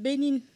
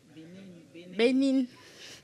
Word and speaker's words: Benin: I'm from Benin, and I'm in charge of Internet School of Governance in Benin. So it's my first time here, and I want to... I'm from Benin, not Berlin. Benin.